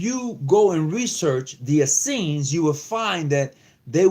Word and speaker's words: Essenes: part of the Essenes I'm not I'm not mispronouncing that word it is the Essenes and the Essenes was